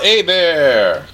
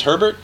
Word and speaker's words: Hebert: some people think it's Herbert but you take the first R out and uh little Louisiana French for you H is silent E's like an A so a bear a bear I wish